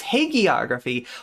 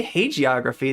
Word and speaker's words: hagiography: shaving LOL shax PA it's a hard G it's hagiography why did I want to say hey geography yeah you're right that